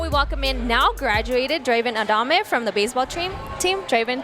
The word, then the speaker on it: Draven Adame: We are here to chat with Draven Adame.